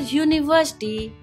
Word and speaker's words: university: is a vowel but when we pronounce the word university the sound that you hear is of a consonant y in general articles are